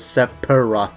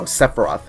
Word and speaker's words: Sephiroth: Also, I got comments with Sephiroth, because I pronounced it as Sephiroth.